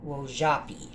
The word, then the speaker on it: Wojapi: So I guess you would say Wozhapi. Because I saw somewhere that it was spelled actually with a ZH instead of a J.